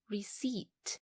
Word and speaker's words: receipt: number five keep the receipt the letter P is silent so do not read it as receipt because the correct pronunciation is receipt